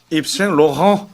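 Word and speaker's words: Yves Saint Laurent: 제가 프랑스어 배우면서 그 가장 그 불어 발음 제대로 할 때 그 얘기하는 게 이제 입생 로랑입니다. 그거를 제대로 프랑스식으로 원발음으로. 발음하면 입생 로랑.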